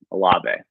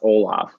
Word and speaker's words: Olave: so it's a so the e is like it has an accent on it a lobby um that's that's how